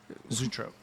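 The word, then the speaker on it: zoetrope: In the first one, they had the circus toy music box, and then this is Zootrope, which I had to find the correct pronunciation because I've never heard that.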